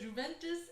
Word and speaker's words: Juventus: So the J is silent.